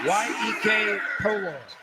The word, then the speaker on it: Iyekepolor: The last name for this young lady is Iyekepolor, pronounced Yek Polor.